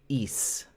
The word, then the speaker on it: Ys: Um, Jessica, the name of the album is YS and she pronounces it east and it's about a mythical uh, city of water basically.